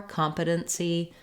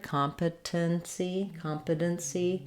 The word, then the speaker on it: competency: with my T's or competency with that flap and that stopped T and the syllabic N again. Again, same first part of the word, competency. It's just depending on how you pronounce this part of it, competency.